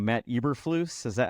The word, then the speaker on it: Eberflus: but I always say his name wrong. Matt Eberflus, is that how you say it?